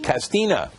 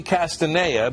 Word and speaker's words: Castanea: some people pronounce it Castina. It's actually Castanea because that is the Latin pronunciation of the chestnut tree, the American chestnut tree.